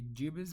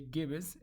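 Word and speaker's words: gibbous: number one is gibbus some pronunciation is going to be gibbus but we say gibus both of them are correct gibus for example this is when more than half of the moon lit up.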